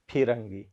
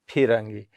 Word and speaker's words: फिरंगी: शब्द प विद्यार्थी ह फिरंगी फरी भस फिरंगी लाई कसरी उच्चारण गने शब्द लाइ छु फी फिरंग गी फिरंगी फिरंगी फिरंगी अब फिरंगी कस प्रयोग